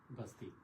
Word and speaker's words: बस्ती: अभी भी डिस्ट्रिक्ट है उस समय बस्ती को उन्होंने प्रोनाउंस प्रोनाउंस किया कई जगह बी यू एस T double E जबकि अभी उसको प्रोनाउंस करते बी ए एस टी आई बस्ती हां तो 1879 में